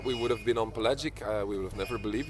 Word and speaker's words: Pelagic: I always say it wrong. It's Pelagic. Pelagic. Pelagic. I got it right.